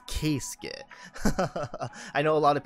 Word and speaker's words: Keisuke: yama nami que skid not kisuke kit i know i pronounced it wrong during the gotcha rolls but it is case skit i know a lot